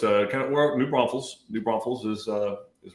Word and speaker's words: New Braunfels: it's uh kind of New Braunfels New Braunfels is uh is where Cobalt is in Comal County and it is New Braun Fells there's no s in the middle I'm about to Texas